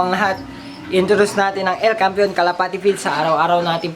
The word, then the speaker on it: El Campeon: And then El Campeon, ay aliw naman, El Campeon Pigeon Feeds, yun ang tamang pronunciation mga kalapatids.